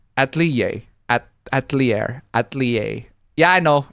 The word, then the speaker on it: atelier: It's pronounced atelier. Atelier.